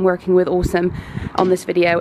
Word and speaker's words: Aosom: be saying working with Awesome on this video. It's spelled A-O-S-O-M, but it's pronounced Awesome.